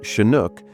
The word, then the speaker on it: Chinook: The shinook name, pronounced shinook and derived from sinnuk, the chahalis name for